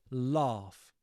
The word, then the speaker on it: laugh: identifying that British pronunciation you notice that I really elongate that vow sound laugh laugh so if you kind of want to build that particularly Southern British accent laugh not l laugh um so what do